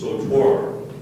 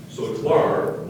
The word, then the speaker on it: sautoir: Are there any alternate pronunciations? Sautoir. Sautoir or sautoir.